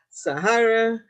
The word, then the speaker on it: Sahara: it sounds like I'm I'm saying the name of the desert right right yeah I